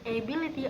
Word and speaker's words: ability: So part B, then ability or ability, which emphasizes the second syllable.